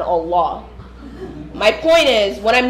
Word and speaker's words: Allah: By the way, it's Quran, Hajj, and Allah.